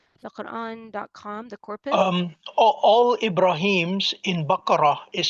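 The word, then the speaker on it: إبراهيم: All Ibrahims in Baqarah is spelled without the ya.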